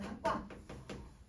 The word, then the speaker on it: 닭과: 닭과. 분명 기역으로 시작하는 애가 오면 얘들아 우리 리을로 소리 낸다고 해놓고는 얘는 리을로 소리를 안 내고 있네.